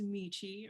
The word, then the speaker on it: Michi: a little about myself my name is michi rhymes with peachy i am the access